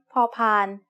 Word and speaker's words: พอพาน: The sound of พอพาน as the initial consonant of a syllable is like the P in panda. You should feel air coming out of your mouth when you make this sound.